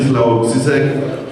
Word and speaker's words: Slavoj Žižek: de Slavoj Žižek, sí, Slavoj Žižek. Bueno, yo lo pronuncio así en español, sí, a lo colombiano, no puedo pronunciarlo en esloveno.